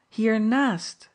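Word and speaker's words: hiernaast: her casually after dinner here Nast man she replied with strong emphasis on the Nast oh I don't mind putting the accent on the final I murmured to myself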